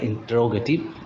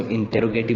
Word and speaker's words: interrogative: देखिए सुनने में स्टूडेंट्स शायद आपको ऑकवर्ड लगा होगा कि मैं इसको इंटेरोगेटिव ना बोल के मैं इसको इंट्रोगेटिव बोल रहा हूँ। तो स्टूडेंट्स इसका प्रोनाउंसिएशन होता ही कुछ ऐसा है, इंट्रोगेटिव बोलेंगे इसको।